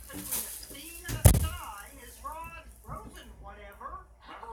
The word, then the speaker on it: stein: My father pronounces it Stein. That's how I pronounce it. Good morning, I'm Rod Rosenstein. But I actually have relatives who pronounce it Steen, so I'll answer neither one.